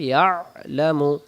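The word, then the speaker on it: يعلم: আইন অক্ষরের উচ্চারণ স্থান আইন অক্ষর হলকের মধ্য থেকে একটু চেপে পড়তে হলক কি গলা গলার মাঝখান থেকে হবে ইয়ালামু ইয়ালামু ইয়ালামু ইয়ালামু ইয়ালামু মালি বাইনা ইয়ালামুমা বাইনা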